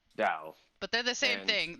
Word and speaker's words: Tao: tao and dao uh dao is the way you pronounce it tau is the way it was um translated into english spelled for some reason yeah but it's it's pronounced dao but they're the same